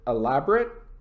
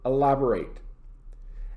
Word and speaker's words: elaborate: having lots of details however there is a verb which is elaborate notice the difference in pronunciation the adjective elaborate the verb elaborate and somebody elaborates on